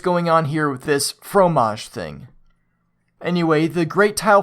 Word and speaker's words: Phromaj: Is it coincidence that the French word for cheese, while spelled differently, is pronounced just the same and means the same thing?